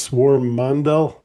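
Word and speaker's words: Swarmandal: Swarm mandal.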